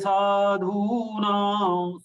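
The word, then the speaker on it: sādhūnāṃ: Paritrāṇāya sadhūnāṃ. Sadhūnāṃ. All three are long sound. To be pronounced with 2 units, 2 matras.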